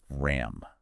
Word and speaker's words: ram: RAM. How do you pronounce it? Kind of like rum, with a bit of a roll on the R, if you like.